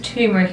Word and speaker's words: turmeric: Is turmeric, isn't it? That is how you say it.